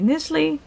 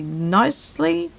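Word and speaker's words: Knisley: Kid Gloves by Lucy Nisley. I recently watched a video of someone on BookTube, and that person pronounced it Lucy Nicely, and actually that makes so much more sense to me than Nisley, so I apologize.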